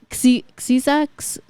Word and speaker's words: Xyza: Xiza, Spell it. XYZA. XYZA. Oh, fair enough. That is Shisa, actually. Xiza. Caesar. It depends on how they use their X.